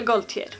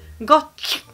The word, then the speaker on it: Gaultier: För där körde om det. Sean Paul Gaultier. Men så uttalas han inte. Han uttalas, jag kollar på min fuskmobil, Sean Paul Gaultier. Nej, Gaultier.